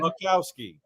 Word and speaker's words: Boczkowski: one, the only Boczkowski. Hey guys, you did good. The Z is silent though, but otherwise you did pretty good. Much better than I've heard. Boczkowski.